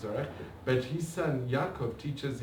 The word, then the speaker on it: Zorach: for the visas was Zorch Verhaftig. His son teaches here in, actually his son said it's Zorach, you have to pronounce it Zorach, but his son Yaakov